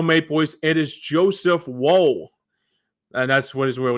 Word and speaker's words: Woll: And for the Toronto Maple Leafs, it is Joseph Woll.